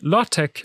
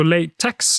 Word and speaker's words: LaTeX: by usage not Fiat Tech is usually pronounced Tech making latch and latch The Logical choices but language is not always logical so lay Tex is also possible you cannot separate the